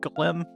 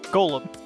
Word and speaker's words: Golem: They are the guys that gave us uh Glim. Glim. Why do I keep mispronouncing that? Golem.